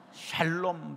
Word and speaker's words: 샬롬: 발음을 잘해야 돼요. 샹롬이 되니까 샬롬 잘해야 돼요.